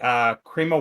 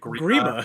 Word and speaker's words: Grima: Okay, Creama Wormtongue. Did you say Creama? How do you pronounce it? Grima Wormtongue.